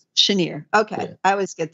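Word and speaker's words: Cheniere: we had Comstock, CRK, and how do you pronounce it? Chenery? Is that how it's pronounced? Chenier.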